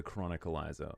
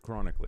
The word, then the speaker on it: Chronicler: I'm Atlas, and I'm now joined by the Chronicleizer, or just Chronicler, if you want to say his name correctly.